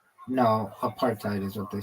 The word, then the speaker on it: apartheid: I mean, I I' used both of them, but well, I don't know if I've ever said, no, apartheid is what they say.